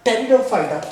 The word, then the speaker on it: pteridophyta: must remember in the pteridophyta, P is silent. Pteridophyta means firm.